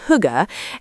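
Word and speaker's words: hygge: As we mentioned, the Danish have the word higay pronounced huga, and it's been wonderfully adopted into English to describe that specific feeling of cozy, convivial contentment. Winter with its long nights is the undisputed king of huggy.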